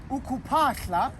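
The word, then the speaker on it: ukuphahla: Ukupahla, that process, is spelled U-K-U-P-H-A-H-L-A. It's the H-L that gives the sound.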